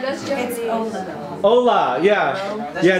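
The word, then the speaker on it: hola: the other way I said it wrong it'sa Ola yeah yeah not hero okay okay yeah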